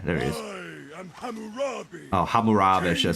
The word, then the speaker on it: Hammurabi: And then Harambe, there it is. Oh, Hammurabi, should I say. I'm saying his name wrong, but Hammurabi, there you go.